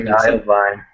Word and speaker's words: Iovine: I'm actually still not sure how to pronounce that. It's an Italian last name, so it's Jimmy Iovine.